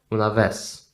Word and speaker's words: una vez: Okay, we don't pronounce the sound Z here. Some people might want to pronounce that like this. It's gonna be a mistake. It's S. It's always S in Spanish.